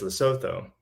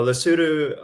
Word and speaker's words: Lesotho: their brain and for most people they mispronounce La Souza as Lesotho but lesudu um is the I